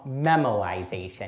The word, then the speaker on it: memoization: correctly for anybody wondering is called memoization not memorization but pretty similar let